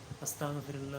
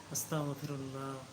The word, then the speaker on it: আস্তাগফিরুল্লাহ: দেখি আমার পাশে বসে অনেকে পড়ে আস্তাগফিরুল্লাহ আস্তাগফিরুল্লাহ আস্তাগফিরুল্লাহ আসলে এটা উচ্চারণ সঠিক হয় না এটা এভাবে পড়তে হয় আস্তাগফিরুল্লাহ আস্তাগফিরুল্লাহ আস্তাগফিরুল্লাহ আস্তাগফিরুল্লাহ আল্লাহ আমাদের সবাইকে সঠিকভাবে মহান আল্লাহর